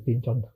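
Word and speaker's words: Pynchon: Klincon siapa ya? Pincon enggak tahu aku juga pincon sih bacanya pincon. Eh benar pincon.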